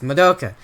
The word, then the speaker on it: Madoka: It's not Madoka, it's Madoka. I keep saying it wrong.